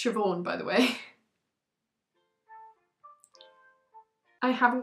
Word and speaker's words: Siobhan: and decided from the spelling of it to pronounce it Shinbon, which to be fair is funny. If you didn't know, it's Siobhan, by the way.